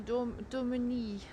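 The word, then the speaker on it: Daumesnil: And this road here is Avenue Domini. Okay, it has an S in it, but the S is silent, so yes.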